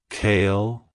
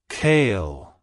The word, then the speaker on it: Kale: man it's pronounced as kale kale kale to pronounce it correctly emphasize the I sound the first syllable and the L at the end avoid pronouncing it as Kale like the leafy green vegetable like hello kale goodbye